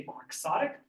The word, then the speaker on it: quixotic: word quick sodic uh you can see that it's mispronounced uh in our language we don't see quic as we ought to we say quixotic quixotic means to be